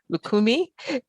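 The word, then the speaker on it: Lucumí: Lukakumi, is that right?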